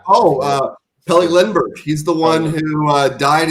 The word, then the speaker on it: Pelle Lindbergh: I cannot pronounce this motherfucker's name. Peli Leberg. Oh, Pelle Lindbergh.